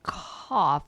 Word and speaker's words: cough: The gh in cough sounds like F.